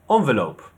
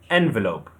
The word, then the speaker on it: envelope: In British, we say envelope, envelope. The stress is on the second syllable, envelope. But in American, they say envelope, envelope. The stress is on the third syllable, envelope, envelope, and envelope.